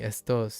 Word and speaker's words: esto: I I forgot about it being esto instead of est or Oh, yeah. Uh, stress stress. I was stressing the wrong syllable there.